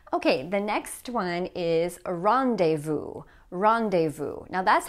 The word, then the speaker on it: rendezvous: It's not pronounced like that in French, but notice that like in French, the S here is going to be silent.